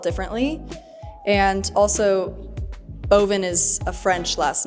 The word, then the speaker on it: Boivin: So boven is pronounced which is wine in French.